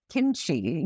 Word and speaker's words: kimchi: um or Kim or Kimchi, you know, which is spelled Kimchi, which is actually it's it's actually kimchi in Korean.